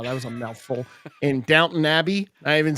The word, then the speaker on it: Downton Abbey: I learned to say Downton Abbey from watching many other people mispronounce it as Downtown Abbey.